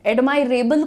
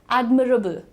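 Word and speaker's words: admirable: एडमायरेबल कुछ नहीं होता है। कैसे प्रोनाउंस करना है? एडममरेबल। एडममरेबल इट इज़ नॉट एडमायरेबल। एडमायरेबल कुछ होता ही नहीं है।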